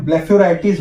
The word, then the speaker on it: blepharitis: तो ब्लेफेराइटिस की spelling BLEPHARITIS है, तो ब्लेफेराइटिस बोला जाता है, पर इसका प्रोनाउंसिएशन ब्लेफेराइटिस होता है।